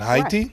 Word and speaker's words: Haiti: who was from hati I like to pronounce Haiti the way they do it heti right right and I